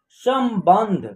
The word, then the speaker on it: संबंध: उस स के ऊपर क्या है, एक बिंदी है, इस बिंदी का यहाँ उच्चारण आधा म के रूप में होगा, सम। उसके बाद ब के ऊपर एक बिंदी है, यहाँ आधा न का उच्चारण होगा। उसके बाद ध, एक साथ उच्चारण करेंगे इसका, संबंध, समझ रहे ना।